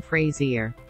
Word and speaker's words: Fraser: understand how else Brendan Fraser's name can be pronounced other than Brendan Frasier or phrase ah if you want to be